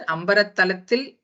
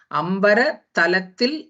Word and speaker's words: அம்பரத்தலத்தில்: You should either pronounce it as ambara talatil, even if the word is bifurcated also in the book. Ambara talatil nindru agalgindrathu irul poi.